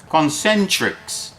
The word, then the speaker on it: Concentrix: It's a company called Concentris. Concentrix. How do you spell That's that?